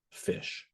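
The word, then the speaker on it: ghoti: This word is actually pronounced fish. What? Yeah, go to the next slide. Actually pronounced fish. Okay, and you go to the next one. Yep. And how do we know it's pronounced fish? Well, because it's has a GH, which is like in rough. Yeah. Okay. And O like in women. Yep. And TI like motion.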